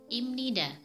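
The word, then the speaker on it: 입니다: untuk contoh yang pertama adalah ibtida harusnya dibaca Ibnu tapi salah yang benar dibaca imnida tulisan tetap cuma cara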